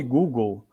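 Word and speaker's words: googol: O Google é o nome Google, só que não escrevendo assim como escreve o Google, escrevendo-se G-U, na verdade é G-O-O-G-O-L. Em vez de terminar com G-L-E, é G-O-L. Pronuncia-se igual.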